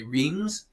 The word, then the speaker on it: Reims: So you've got Reims, which is spelled R-E-I-M-S. A lot of times if French people are speaking to an English speaker, they'll say Reims, but the way French people say it is Reims.